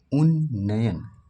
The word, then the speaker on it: उन्नयन: लिए आप क्या करेंगे उन्नयन उच्चारण करके देखें उन्नयन दो बारना आता है एक बार ना आया लेकिन इसमें आधा नहीं आया यह तो निपट गया